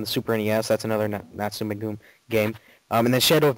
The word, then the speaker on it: Natsume: It's called Shadow of the Ninja, and it's made by, and I don't know if I'm pronouncing this right, Natsume maybe? Natsume, that's how I usually say it. Yeah, it's Natsume. They make, I gotta tell you, they make quality games.